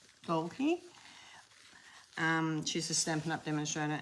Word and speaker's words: Dalke: Her surname is spelled D-A-L-K-E, Dalkey.